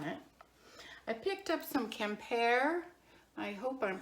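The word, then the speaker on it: Quimper: ten dollars on it i picked up some compare i hope i'm pronouncing that right that's q-u-i-m-p-e-r french decorated dishware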